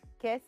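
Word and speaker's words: Kese: pronounced? Kes? Kes.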